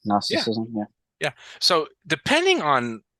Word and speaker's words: Gnosticism: um so let's talk about it so it's pronounced gnosticism I correct or am I wrong I think you're correct gnosticism yeah yeah so depending on kind of what